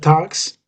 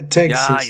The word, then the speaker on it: Texas: We have Tox. But, it it is it is Tex Texas. Yeah, Texas.